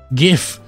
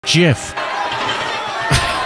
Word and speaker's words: GIF: that really golf or should I say a gif I shouldn't because it's canonically pronounced Jif anywhere back to Joel